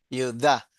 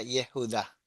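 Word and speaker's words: יהודה: Judá. Pero si seguiríamos todas las reglas sería Yehudá. Claro. Y Yehudá. Sí. Yehudá. Nosotros en castellano tenemos Judá, ¿no?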